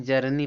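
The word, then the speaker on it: journey: यहां जर्नी पढ़ेंगे। जर्नी, जर्नी माने क्या होता है?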